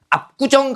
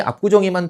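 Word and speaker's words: 압구정: 그래서 앞구정 같은 경우에 요렇게 발음이 되거든요. 그죠? 뭐로 발음 돼요? 된 소리로 발음. 꾸라고 된 소리로 발음이 되는데 얘는 발음하는 과정에서 나타난 거기 때문에 반영하지 않아요.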